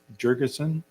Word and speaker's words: Jurgenson: staff and ownership representative Kirk Jer jurgenson from PEC did I say your name right you did sir thank good I hate